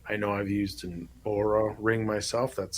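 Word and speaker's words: Oura: can track that I know I've used an aura ring myself that's spelled o-u-r-a if you want to look that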